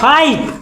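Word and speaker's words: fight: तो कहां लिखो हाई एफ आई जी एच टी यहां कहां पढ़वी फाइट फाई टाइ जी एच साइलेंट है ना है ना जी साइलेंट तो डी कहां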